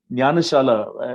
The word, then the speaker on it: Jnanashala: Most Indians, they're not able to pronounce because of the J that comes. They say Jnana, but you pronounce it rightly by saying Jnana Shala.